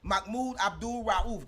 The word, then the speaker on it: Mahmoud Abdul Rauf: Mahmoud Abdul Rauf, that's how you say it, was the first